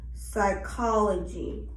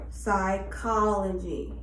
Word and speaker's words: psychology: Then we have P is usually silent when followed by S. Psychology. Psychology.